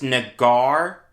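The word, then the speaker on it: Naggar: in the world the jets did sign chris nagar as an undrafted free agent yes that is how he pronounces his last name for whatever it's worth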